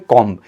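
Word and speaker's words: comb: इन the same way हम यहाँ पे देखते हैं कॉम्ब, एग्जैक्टली जिसको आप कंघी कहते हैं, बट आपको ध्यान रखना होगा कि इसमें भी जो बी लेटर है वो साइलेंट होता है और ये बनता है कॉम।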